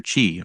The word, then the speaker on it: Qiu: his left couple to his left is dr chi which is spelled qiu and dr chi uh attained no